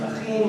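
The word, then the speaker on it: אחים: Achim Gam Yachad. Oh, it's twice in there. It's a ch sound. It's great. We should all learn how to say it. Ch. A little harsher. Ch. Not too harsh.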